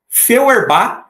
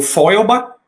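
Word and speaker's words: Feuerbach: Feerba ou Feloba, se for pronunciar mais alemão, né? Mas eu vou ficar com Feerba, que é o jeito que eu vejo a maioria dos sociólogos no Brasil falando.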